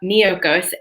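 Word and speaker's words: Miyoko's: this company called miyokos so that's spelled m as in mary i y o k o so almost like mykonos but miocos and they have sliced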